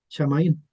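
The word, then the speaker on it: שמים: Después tenemos el artículo ja y aquí tenemos la palabra shamaín que parte con una parte con una chim, con la letra mem.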